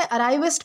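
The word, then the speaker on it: arriviste: दोस्तों इसे अराइविस्ट प्रोनाउंस किया जाता है जिसका मतलब होता है नव उदारवादी या फिर अचानक उन्नति प्राप्त करने वाला व्यक्ति।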